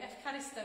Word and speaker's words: Ευχαριστώ: Ευχαριστώ, and it's from exactly the same root, as the, it's basically the same word as Eucharist. An E and a U together are pronounced F in modern Greek.